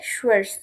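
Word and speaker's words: schwarz: Black, ব্ল্যাককে বলে শুয়ার্স, শুয়ার্স, শুয়ার্স। Black কালারকে বলে শুয়ার্স।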